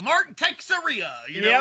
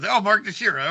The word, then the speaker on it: Teixeira: Literally the only reason I know how to actually pronounce his name now. Right, because because motherfucking I used to be Mark Texeria, or some bullshit like that. But Mark Teixeira.